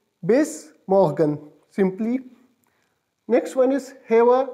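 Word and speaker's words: bis morgen: see you so see you tomorrow will be pronounced is base Morgan base Morgan simply next one is hammer nice day it's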